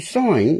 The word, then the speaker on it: sign: sign something folks see sign is s-i-g-n okay but the g is silent isn't it such a